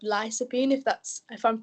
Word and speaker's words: lycopene: right the the uh I think it's pronounced lopine uh uh at least that's the way I pronounce it but uh sometimes the pronunciation in UK and United States is a little bit different uh but um but